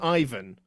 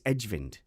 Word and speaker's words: Ejvind: His nickname is EJ, so it's Edgevind.